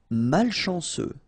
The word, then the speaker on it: malchanceux: Malchanceux. Final X not pronounced. C-E-U, ce.